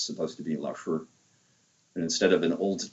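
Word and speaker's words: 老师: By the way, I understand the way that we mispronounce Laoshi, because it's supposed to be Laoshi.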